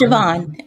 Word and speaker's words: Siobhan: Yes, it's Siobhan.